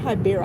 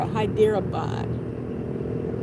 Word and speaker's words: Hyderabad: saying it right H it's not hiber Hyderabad like like hyper but with a d a something like that